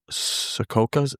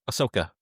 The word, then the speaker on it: Ahsoka: We were just talking about the that in regards to Anakin with the uh was it the Sakoka? How was he pronounced again? the series Ahsoka. Ahsoka, I'm sorry.